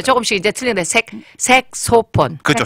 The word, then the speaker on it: 색소폰: 색소폰, 색스폰, 네. 그다음에 와, 뭐, 또 다르게 하는 분들도 많아요. 잘못 발음하면 안 됩니다.